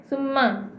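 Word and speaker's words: ثُمَّ: Summa. Dua harakat dahulu nah. Pastikan tu 2 harakat. Jangan summa. Tak boleh. Salah. Dia kena summa baru sebut ma tersebut. Ya, berikan hak kepada baris sabdu tersebut.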